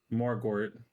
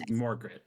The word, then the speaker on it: Morgort: So it's Morgret. No, there are 2 O's. Morgort. Morgort. I did say it right then, Morgort. G-O-R-T. Morgort.